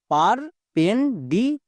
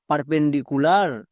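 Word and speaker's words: perpendicular: কোন সমস্যা হবে না নেক্সট ডি আই এর জন্য ডি ডি এর জন্য ডো আই এর জন্য শিকার ডি সি ইউ এর জন্য কি হবে কু অনেকে একে কা করে কা উচ্চারণ হবে না এল এ আর লার তাহলে পুরোটার উচ্চারণ কি দাঁড়ালো পারপেন্ডিকুলার পারপেন্ডিকুলার এভাবে করে যদি ভাঙতে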